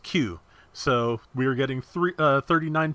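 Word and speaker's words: 九: In Japanese, the number 3 is pronounced san, the number 9 is pronounced Q.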